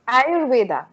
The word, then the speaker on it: Ayurveda: or are you better how to pronounce it correctly ayurveda are you ready are